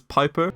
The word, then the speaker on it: Piper: There's Piper, Rhymes with viper.